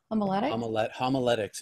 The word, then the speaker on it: homiletics: as a staff writer for how do you pronounce a homolytic homiletics is the art of preaching that's beautiful okay